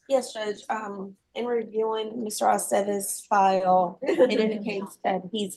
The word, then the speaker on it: Aceves: It's always ve. Ve, Aceves.